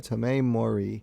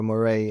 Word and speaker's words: Tomeu Morey: James Tynion writer, Jorge Jimenez as the artist, and I believe it's pronounced Tomeu Morey, or Morey as on the colors, who really brings this issue to life.